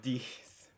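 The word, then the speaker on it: dix: it smells like dicks but it's not it's pronounced like dicks it's these this okay and then we have set and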